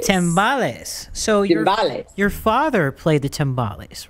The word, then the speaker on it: timbales: that yeah is that tombali said or is that a drum set how am i saying it wrong or no it's it's they're all latin percussion uh they are called timbales the smaller ones we've